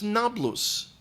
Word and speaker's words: Nablus: land have a diff they can't pronounce the P the the P and the B are are are confused by them so they couldn't call